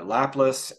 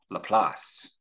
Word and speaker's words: Laplace: called maximen maximax uh laplus and also uh or no sorry I looked up the pronunciation of it and it's LaPlace it's a French uh French sounding uh pronunciation according to Google's pronunciation